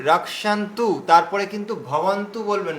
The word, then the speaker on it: भवन्तः: ভীষ্মমে, এই দেখুন ভীষ্মা এভাবে উচ্চারণ করবেন, ভীষ্মা ভীষ্মমেবাভিরক্ষন্তু ভবন্তঃ সর্ব এব হি। আচ্ছা, এখানে এই যে রক্ষান্তু, তারপরে কিন্তু ভবন্তু বলবেন না কেউ, ভবন্তঃ, ভিরক্ষান্তু ভবন্তঃ।